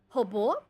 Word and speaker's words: Robo: call them again correctly hobo hobble yeah interesting it's like it's so it's like robot but in Portuguese that's what his name